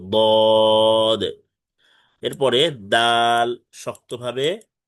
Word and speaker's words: ضاد: ضاد মোটা আওয়াজে তিন আলিফ টেনে পড়তে হবে, ضاد।